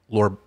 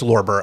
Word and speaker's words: Lorber: Is it Lorber or Lober? Lober. Lober Society. Okay. No, it's Lorber. I had it. Oh, it's Lorber.